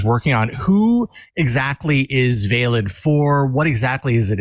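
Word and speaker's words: Veilid: working on it's an encryption technology um called valid I think I'm pronouncing that right um this is the code that the CDC is working on who exactly is valid for what exactly is it intended to do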